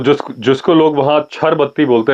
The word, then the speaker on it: Chir Batti: डरते भी हैं और उसको बोलते हैं छर बत्ती स्पेलिंग लिखते हैं चिर बत्ती सी एच आई और बत्ती मेरे पीछे